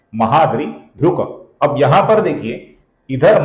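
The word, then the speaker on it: महाद्रिधृक्: में आने के कारण इसका हम पूर्ण क ऐसा उच्चारण नहीं करेंगे, किंतु लगभग पूर्ण उच्चारण हम करेंगे। अर्थात महाद्रि ध्रुक ऐसा उच्चारण गलत है, महाद्रि ध्रुक ध्रुक ऐसा उच्चारण हम करेंगे। ध्रुक ये क का पूर्ण उच्चारण है, ये उच्चारण हम नहीं करेंगे।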